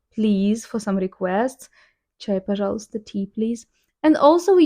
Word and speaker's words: Пожалуйста: Чай, пожалуйста, tea, please.